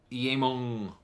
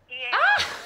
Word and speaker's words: Eamon: Well, when I was over in America, every time somebody would see my name written down, they just pronounce it like that. So I suppose it's phonetic.